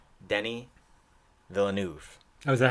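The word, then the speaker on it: Denis Villeneuve: to finally know how to say his name Denny Villeneuve I was a how do you face it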